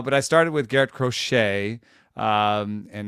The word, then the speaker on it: Crochet: um I started uh crochet who um I call the rocket uh because that's how that's how we should say his name uh like like David Crockett DAV K or or